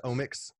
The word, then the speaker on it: omics: switch to that yeah it's like genomics proteomics you know so it's just like the omics is um kind of just how it's pronounced and and it's about omx yeah it's about omx so it's omix um just kind of